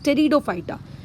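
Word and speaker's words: Pteridophyta: अब उसके बाद आते हैं हम लोग हमारे तीसरी कैटेगरी में, दैट इज़ टेरिडोफाइटा। टेरिडोफाइटा की जो स्पेलिंग है उसमें पी क्या है आप लोगों का साइलेंट है।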